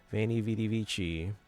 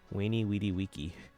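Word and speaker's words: veni, vidi, vici: They say "Veni vidi vici." They're quoting Caesar, but no, in Latin it probably would have been pronounced as a W, "Veni vidi vici," which doesn't sound as cool, but yeah.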